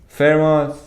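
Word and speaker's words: Fermat: FMA FMA little torum the T at the end of it is silent fairos fairos leader toor what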